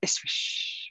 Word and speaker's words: ISSWSH: my favorite organization ever because you pronounce it ISSWSH, which sounds really romantic.